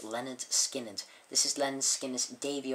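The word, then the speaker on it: Lynyrd Skynyrd: this is good one Leonard skinnard pronounced Leonard skinnard this is Leonard skinnard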